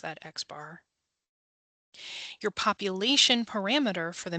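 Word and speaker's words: X̄: We just pronounced that X bar.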